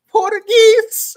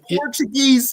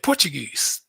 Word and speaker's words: Portuguese: He said Portuguese. It's Portuguese, nigga. See, that's how we normally say it, Portuguese. But he says Portuguese.